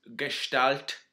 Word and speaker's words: gestalt: Now, it's not going to be horrendously long because this gestalt, that's the correct way to pronounce it.